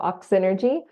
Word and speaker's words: Oxynergy: trouble pronouncing it but it's like oxygen and energy so oxynergy o x y n